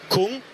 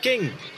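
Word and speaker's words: Küng: of it n so as English speakers you are drawn to saying Kung he says himself it's pronounced King which makes it easier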